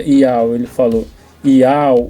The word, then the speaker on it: Yauh: Ele falou e se pronuncia ial.